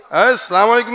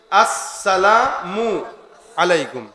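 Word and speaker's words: السلام عليكم: হ্যাঁ ঠিক আছে কেমনে সালাম আলাইকুম কি আবার উচ্চারণ করেন আমার সাথে আসসালামু শুরুর হামজা আর শেষের মিম আসসালামু আলাইকুম আসসালামু সালাম আলাইকুম মানে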